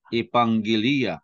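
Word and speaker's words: ἐπαγγελία: At if you remember, double gamma is pronounced as nga, no? With the ng sound.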